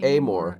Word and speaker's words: Amor: the author, I mean, is it Arthur Towles? Have I got that right? Arthur Towles? Amor, they pronounce his name Amor. Amor Towles.